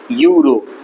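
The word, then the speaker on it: euro: यूरो, यू रो, इसको ऐसे pronounce किया जा रहा है। पहला वर्ड यू आ रहा है, यू वाई से ही स्टार्ट होता है, तो वाई वाला प्रोनाउंसिएशन है यहाँ पर, कॉन्सोनेंट है वाई। यहाँ पर एन नहीं आएगा, यहाँ पर आएगा अ यूरो, ठीक है। यूरो, ये प्रोनाउंसिएशन है इसका। तो यहाँ पर अ यूरो आएगा, ना कि एन यूरो आएगा, ठीक है।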